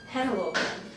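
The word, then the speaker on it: Henlopen: at the state park and actually uh it's pronounced Cape Hannah Logan but originally it was called Cape Delaware surprise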